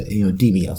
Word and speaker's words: DMIOS: And just to let you know, that's an acronym. Acronyms are a series of letters that spell out a word or something like that, and it's pronounced as a word. Something like that. So, Demios.